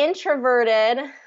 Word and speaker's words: introverted: need here ined ver so there's actually kind of two two syllables that are stress the first one is getting the primary stress the third is getting the um secondary stress so introverted introverted introverted